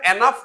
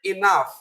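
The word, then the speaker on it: enough: উচ্চারণটা এনাফ না, উচ্চারণটা হবে ইনাফ।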